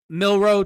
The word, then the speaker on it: Milroe: if the 21st pick milrose not taken Pittsburgh is leaning now and taking him I mean Jaylen mil excuse I said his name wrong Jaylen milro is a huge individual